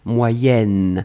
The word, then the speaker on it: moyen âge: alors moyens moyens4 sion quand on va le blier avec âge on va faire ce petit modification de prononciation on va dire moyenne moyen-âge d'un c'est pour ça que vous avez peut-être entendu moyenne mais en fait on écrit moyen moyen âge va être prononcée moyen-âge d'accord allez ce troisième chose